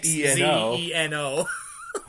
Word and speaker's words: Xzeno: Xzeno. It's like, okay, there's Xeno like xenophobic, or there's Xeno like that same way but with a Z. Why not combine them and make them silent, each other silent?